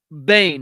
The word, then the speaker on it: Boehm: Disappearance of Frederick Joseph Bane now I know his his last name is spelled BM but um his last name is pronounced Bane as in b n